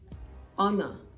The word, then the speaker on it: honor: but the H is absolutely silent oh no honor our our so you pronounce this hour the same way you pronounce